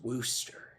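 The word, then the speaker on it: Worcester: and said you dumb it's Wooster and everybody pointed and laughed uh because uh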